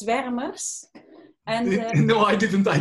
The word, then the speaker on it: Zwermers: company's very much spurners swarmers i don't know how to pronounce it but you can say okay um well you pronounce it quite well it's veremers and no i didn't